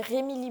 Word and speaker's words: Remili: Et je dis Remli tout à l'heure, c'est Remili bien sûr. Hein. Je me suis un peu trompée dans la prononciation.